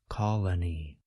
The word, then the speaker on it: colony: Even though we spell colony with two O's, we pronounce each O a bit differently. Listen again to the singular form, colony.